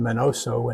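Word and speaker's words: Miñoso: Mini Minoso, pronounced Menoso in the US, debuted with the Cleveland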